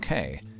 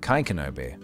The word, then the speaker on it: Kei: Also, my name is pronounced like Kai, not Kay. Ah, Kai Kenobi, is that correct?